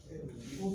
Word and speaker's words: aux: Ah, mais on ne prononce pas le X, on dit O.